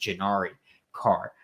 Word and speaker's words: Janari: person that commented yesterday to say that it's pronounced Janari car.